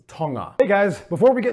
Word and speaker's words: Tonga: fascinated with togo all right first off it's pronounced tonga hey guys before we get into this episode